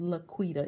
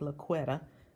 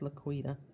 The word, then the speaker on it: LaQuita: eight letters in my name and it is pronounced laQuita even though looks like luck wetter but it is pronounced laquida and this one is using the same beautiful